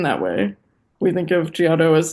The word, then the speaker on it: Giotto: Yeah, it's Giotto. Giotto or whatever. Yeah, I'm G sure it's pronounced a little differently.